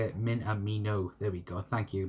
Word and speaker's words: Minamino: note by telling you how to say it minamino there we go thank you made by for